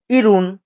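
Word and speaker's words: 일흔: সুইন 50 ইয়াসুন 60 ইরুন।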